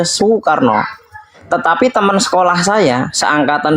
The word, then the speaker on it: Soekarno: ejaan yang belum disempurnakan maka u itu tulis dengan dua huruf o dengan e Soekarno dibaca sokarno tetapi teman sekolah saya